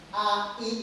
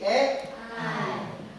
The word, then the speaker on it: AI: Awas a i itu dibacanya bukan AI tapi e I.